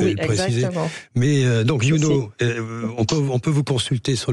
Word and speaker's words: Younau: On rappelle avec vous, YouKnow, c'est ça? Ça s'écrit YOUNAU, c'est un jeu de mots. Je ne sais pas s'il faut le préciser. Exactement. Mais donc YouKnow, on peut vous consulter sur le net assez facilement.